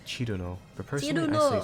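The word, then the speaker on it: Cirno: People often say her name in different ways, the most common being she's the snow fairy, Cherry Moo. I love Cherry Moo. Surno, Cyrno, and Chirno. Her name in Japanese is Chiruno, but personally I say Surno or Cyrno.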